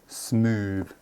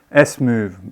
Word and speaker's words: SMoove: I watched one of their videos and heard them pronounce their name, and it was SMoove. SMoove, basically.